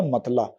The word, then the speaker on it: مطلع: پڑھا جائے گا کمال۔ اس کے بعد لفظ ہے مطلع، میم پر زبر، توئے ساکن، لام پر زبر، عین ساکن۔ اس کا اعراب مکمل ہو گئے اور اس کا تلفظ ہو جائے گا مطلع۔ پھر لفظ ہے چراغ،